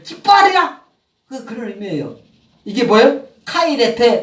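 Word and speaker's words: χαίρετε: 발음을 카이레테.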